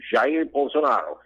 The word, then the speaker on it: Jair Bolsonaro: Okay, his name is Jair Bolsonaro. He's the correct pronunciation, Jair Bolsonaro.